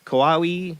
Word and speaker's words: Kauai: tactical fighter jets were sent to intercept a suspicious object over Kauai, North Shore.